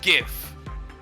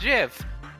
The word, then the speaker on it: GIF: God Sonic it's pronounced gif get to work gotta get it to work get a shadow the original Creator said it was pronounced Jiff shut the [ __